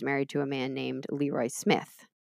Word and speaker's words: LeRoi: The second time, she was married to a man named LeRoi Smith. So I think it's LeRoi anyway.